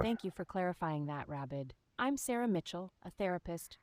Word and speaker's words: Rabid: My name is Rabid, R-A-B-I-D, like rabbit as in rabies. It's pronounced and spelt the way you'd imagine it would be.